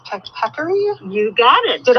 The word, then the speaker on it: peccary: They're from the, how is it pronounced? Peccary?